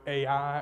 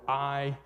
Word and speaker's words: Ai: the promised land jericho ai or i um either pronunciation is good uh we'll talk about